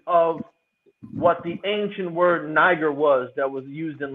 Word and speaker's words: Niger: God you got Niger you got Niger is how they say you supposed to pronounce it and you got Nigeria